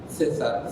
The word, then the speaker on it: César: A Yosani le gusta que yo diga eso como si se pronunciara como en el español de España, César.